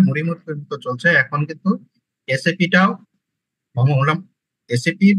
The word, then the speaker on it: SAP: হচ্ছে এস এ পি এটা আলাদা আলাদা উচ্চারণ না এটা অনেকেই স্যাফ উচ্চারণ করে যদিও এটা আসলে ঠিক না এস এ পি এস এপির এখন আমরা